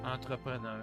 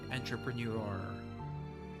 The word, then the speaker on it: entrepreneur: So, see, it says blueblooded entrepreneur or entrepreneur in French. Because the Americans say entrepreneur, newer, like newer, but it's it's a French word.